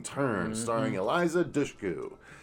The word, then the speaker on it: Dushku: Wrong Turn starring Eliza Dushku that's how you say it because it's she's corrected a lot of people it's not Dushku it's Dushku it's like push but douche so anyway if anyone's